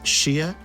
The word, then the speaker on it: Hsieh: show today you can find her at RW Shia and that is spelled h s i e h.